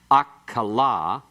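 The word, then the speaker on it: אָכְלָה: The metheg opens that syllable that in the first example is closed. The closed unaccented syllable is a what? What do we call that vowel? Kametz hatuf. And so it's pronounced okla. And it's unaccented, and it means food. It looks the same, it's spelled the same, but it's pronounced differently and has a totally different meaning.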